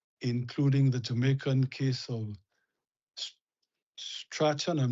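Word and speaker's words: Strachan: number of cases including the Jamaican case of Stratton. I'm not sure how you pronounce it. Stron. Yes. S T R A C H. Yes. Strong.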